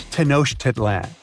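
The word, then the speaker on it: Tenochtitlan: It's Tanosh Tedlan. And Mayan cities are hard to pronounce too.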